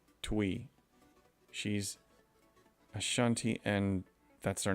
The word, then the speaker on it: Twi: Twi is pronounced like Twi.